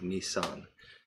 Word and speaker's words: Nisan: the 15th day of i hope i pronounce this correctly nisan n-i-s-a-n the jewish month of nisan and because